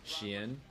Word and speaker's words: Xian: From a certain range, It's like a sh, and then you say Ian. And that's kind of how you say his name, Xian.